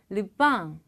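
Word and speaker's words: le pain: 르 뺑 이라고 적었어요 그런데 발음은 사실 뺑 과 빵 사이 빵에서 약간 콧소리를 내 주는 정도라고 보시면 됩니다 이길 때는 르 빵 6 빵 이렇게 이거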